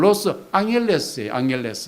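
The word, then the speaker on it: Los Ángeles: 로스앤젤레스, 정확히 하면 로스 앙헬레스예요. 앙헬레스라는 뜻은 멕시코식 발음이거든요.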